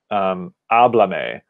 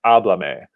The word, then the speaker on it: háblame: to last syllable, but we say no, we actually want to keep it at the first syllable of the verb, like pásalos, pásamelos, or háblame.